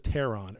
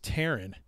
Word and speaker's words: Terran: But he can never pronounce Terran. He always says Terran or T-Ran, but it's Terran.